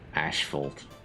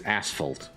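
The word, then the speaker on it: asphalt: a little bit quicker wonder why it's called ashfold believe that's the uh British pronunciation of that because to me it's always ashal CU there's no h in it so why why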